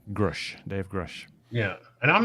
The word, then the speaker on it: Grusch: uh they've they've uh his pronounced his name now uh grush Dave grush yeah and